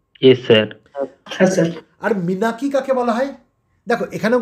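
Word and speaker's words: menarche: দেখো এখানেও কিন্তু আমরা মিনাকি বলছি, আমরা কিন্তু মেনার্কি বলছি না, এম ই এন এ আর সি এইচ ই, এই আরটা কিন্তু উচ্চারণ হবে না, সাইলেন্ট থাকবে, আমরা কি বলবো?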